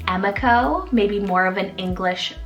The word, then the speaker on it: Emiko: So first off, I love the name Emiko, spelled E-M-I-K-O, Emiko. And this one's a Japanese rooted name meaning smiling child or beautiful child. I've also heard it been pronounced as like Emiko, maybe more of an English anglicized version of it.